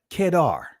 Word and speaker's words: Kedar: the curtains of Solomon and his name is pronounced so let's break this down as the tents of kedar as the tents of kedar let's define kedar